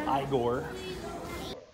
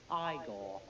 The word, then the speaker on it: Igor: Or Igor. No, it's pronounced Igor.